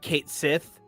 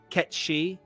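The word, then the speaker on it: Cait Sith: 7's name is ketchy it's spelled c-a-i-t-s-i-t-h uh Kate Sith but it's pronounced ketchy and I didn't want to come on like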